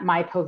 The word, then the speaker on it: Maipo: Maipo.